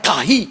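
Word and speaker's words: καί: Kata dan di situ dipakai kata kahi, K-H-A-E. Bacanya kahi.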